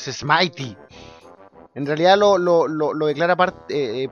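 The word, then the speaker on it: Smithy: Propiedades Mighty o Smitty, no sé cómo lo pronunciarán ustedes, en mi mente era Smitty. Pero creo que la correcta forma de pronunciarlo es Smitey.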